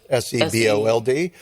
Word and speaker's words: Sebold: I mean, her name is spelled Sebold, S-E-B-O-L-D, but it's pronounced Sebold.